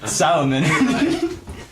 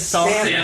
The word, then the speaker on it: salmon: Solomon. Good. I haven't had a good. Solomon? How do you say it? It's Salmon. Salmon. Like the fish.